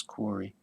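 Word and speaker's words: Kahre: found that name, and you can see that K-A-H-R-E is Carey, I guess it would be. He pronounced it as Corey.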